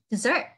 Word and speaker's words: dessert: Một cái là trọng âm là giống như thứ hai là dessert.